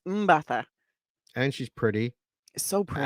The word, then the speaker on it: Mbatha: She's It's so Mbatha. pretty. I literally listened to a video to get it right. Oh, okay. And I'm pretty sure I still got it wrong. So I mean, but it's Mbatha.